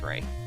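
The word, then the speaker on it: Rey: to this next character Ray I think that's how you pronounce it r e y I'm gonna go Ray anyone want to argue on that one r e a r e y r e y i I think it's Ray yeah Ray makes sense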